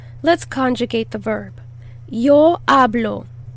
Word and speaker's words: hablo: the h really hard you actually don't want to say the h at all it's silent yo hablo i talk